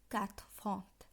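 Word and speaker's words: quatre-vingts: ৮০, আমি এর আগের ক্লাসে বলেছি ৮০ উচ্চারণ হবে ক্যাথফন্ট, এবং কিভাবে উচ্চারণ হচ্ছে সেটাও বলেছি।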